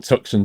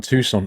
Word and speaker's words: Tucson: whole thing did we sorry not tuxon Tucson oh I must remember to pronounce that correctly Tucson how dare I call it tuxen what was Tucson um